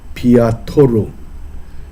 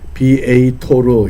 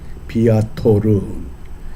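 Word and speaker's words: viator: 이 라틴어 단어에 비아토르, 비에이토르 이렇게도 발음합니다. 비아토르.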